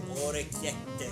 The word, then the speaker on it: orecchiette: Sir, how do I pronounce this? Orecchiette? Orecchiette.